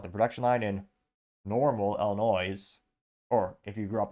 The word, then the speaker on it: Illinois: that rolls off the production line in Normal Illinois or if you grew up in Illinois if you're from Midwest you know it's actually pronounced Illinois but yeah if I was an